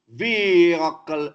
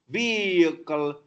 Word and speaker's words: vehicle: Mischievous, niche, vehicle, H is silent, vehicle, courageous, religious, jeopardy, there's